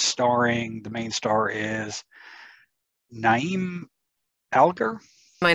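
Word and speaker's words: Niamh Algar: And it's starring, the main star is Naeem Alger. My name is Neve Alger.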